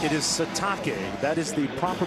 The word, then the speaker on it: Sitake: That's right, it is Sitake. That is the proper pronunciation.